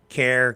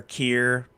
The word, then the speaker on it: Keir: Care, Keir. Anyway, I apologize to the Prime Minister for saying your name wrong, Mr. Starmer. I'll say Mr. Starmer and I'll try to avoid calling you Care Starmer anymore.